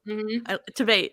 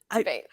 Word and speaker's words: Tveit: Tveit, yeah. Tveit.